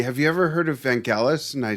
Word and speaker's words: Vangelis: you ever heard of van gaalis and i said no and i think at the time we were pronouncing it van jealous we were kids yeah yeah we didn't speak greek and he played it